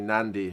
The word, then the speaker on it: Nadi: their capital it's pronoun it's written nadi nadi but it's actually nandi right there's an invisible n in some of the